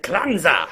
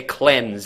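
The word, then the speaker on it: Klenze: to the engine room that's the only way i can pronounce his name properly now because i'm i'm constantly worried i'm going to say cleanse and that doesn't sound proper right it's it's spelled k-l-e-n-z-e by the way okay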